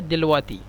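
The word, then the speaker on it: دلوقتي: অনেকবার পড়েছিলাম এই শব্দটিকে ওরা লিখে দেলওয়াক্তি কিন্তু উচ্চারণ করে দিলওয়াতি দেলোয়াতির বাতিনি মানে পেটের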